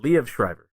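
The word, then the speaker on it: Liev Schreiber: lot of parts but I don't know how you pronounce his name but I think it's leave Shriver I think went L Shriver is that what you said L Shriver no le yeah Le Shriver I looked it up I don't know for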